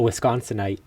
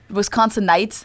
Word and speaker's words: Wisconsinite: from wisconsin is called no a wisconsinite wisconsin knights instead of wisconsin yeah